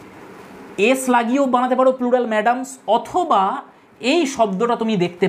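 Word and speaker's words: mesdames: এই বানানটা দেখে নেবে মেসডেম যেটা দেখাচ্ছি আসলে ম্যাডামস উচ্চারণ হবেয়ার ফ্রেন্ডস এই হচ্ছে ফ্রেঞ্চ আর দুটো শব্দ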